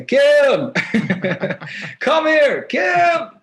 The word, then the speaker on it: KIIM: So people don't say Kim, they say Kim, come here, Kim. So they say my name with like two eyes because it's just the way it's kind of pronounced for me.